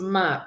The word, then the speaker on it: mars: March is pronounced ma.